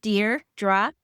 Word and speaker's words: Dierdra: I only correct people once, and you said it properly, but in case anybody ever meets me, it's Dear, like you're writing a letter, Dierdra.